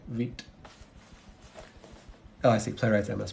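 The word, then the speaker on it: Vite: I read the documentation where they specifically say wheat oh I see playwright's MS project yep just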